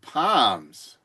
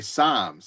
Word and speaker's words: Psalms: Speaking of angels, let's give our thanks to our Lord and Savior with Palms. I'm sorry, Psalms. I know the P is silent, but Psalms chapter 30, verse 5.